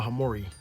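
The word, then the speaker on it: hamorii: This is the B. hemorrhoid, Brachypelma hemorrhoid, or hemorrhoid, however you want to pronounce it.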